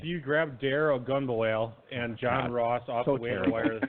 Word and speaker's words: Ogunbowale: but I am so I know how to pronounce his name you grab dare ogunbowale and John Ross also we're for the better